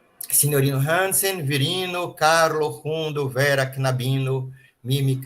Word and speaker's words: knabino: Carloas knabo e vera knabino. Esse k n a gente tem que eh formar uma sílaba só comaboino. Não pode falar quinabo quinabino.